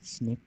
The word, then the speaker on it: SNP: ये लास्ट में जो लिखा है स्निप, स्निप प्रोनाउंसिएशन में है, SNP की जगह स्निप्स बोल दिया जाता है।